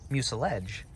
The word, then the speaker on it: mucilage: up the pronunciation of mucilage, and it is actually mucilage. So I had read it in scientific papers, and I had never heard it, so my intuitions went with garage or mirage.